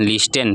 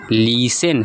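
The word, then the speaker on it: listen: बहुत लोग गलती से नहीं जानने की वजह से पढ़ते हैं। लिस्टेन क्या है? लिस्टेन जो कि गलत प्रोनाउंसिएशन है। हमारा सही प्रोनाउंसिएशन क्या होगा? लिसन क्या होगा?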